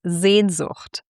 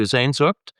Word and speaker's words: Sehnsucht: And you shared with me that one of your favorite German words is Sehnsucht.